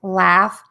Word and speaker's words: laugh: So this is pronounced as 2 sounds, the short A and the F, af. And we're going to see this in the words like laugh and laughter.